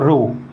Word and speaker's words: rho: ये जो proportional symbol रो है इसको अलग से लिख दे रहा हूँ, रो RHO, here H is silent, और पढ़ते हैं इसको रो, ठीक है।